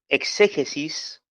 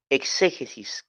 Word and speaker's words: exégesis: la exégesis la exégesis la palabra exégesis se escribe así e x e g e s y latina s exégesis tiene acento prosódico en la en la en la en la segunda de exe exégesis y la palabra exégesis